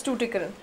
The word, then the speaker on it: Tuticorin: how to pronounce it, but I think it's Tuticorin. Tuticorin or something. Tuticorin. It's somewhere in Tamil Nadu, I believe. Tuticorin. Yes, it is Tuticorin.